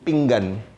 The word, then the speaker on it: pinggan: Okay, once again, how do you pronounce the title of the talk? So from Finjan to pinggan, and from cha to arbata.